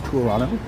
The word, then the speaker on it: Toronto: The reason why my name is TOURonno is because in Canada, in Toronto specifically, we do not pronounce the second T.